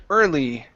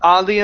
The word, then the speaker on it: early: go to the word early here instead of odly enough it's ER early enough early enough okay very